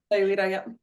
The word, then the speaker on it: Sayulita: They own a home in, how do you say it, Sayulita, Mexico? Yeah, Sayulita, yeah.